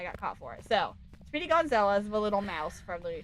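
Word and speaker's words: Speedy Gonzales: I said his name wrong apparently last time and I got caught for it. So, Speedy Gonzalez, the little mouse from Looney Tunes.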